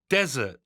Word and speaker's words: desert: เอง อีก ที นึง Desert Desert เห็น ม เน้น ที่ ตัว แรก Desert นะ คะ ไป กัน